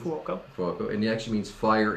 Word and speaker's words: Fuoco: So for those of you who don't know, my last name is Fuoco. And you said it right. Congratulations. Fuoco.